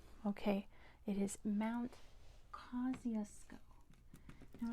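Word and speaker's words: Kosciuszko: Australia close enough kesco okay it is Mount Cusco now it's a Polish name my goodness but that's not how they pronounce it in Poland that's how they pronounce it in Australia so let's spell this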